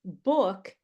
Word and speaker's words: book: So if I say book is a wood word, you'll understand how to say it.